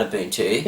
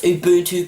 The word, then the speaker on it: Ubuntu: Not only did I make up a lot of incorrect information about Ubuntu...